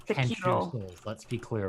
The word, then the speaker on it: Sekiro: However, your pronunciation happens. It's Sekiro.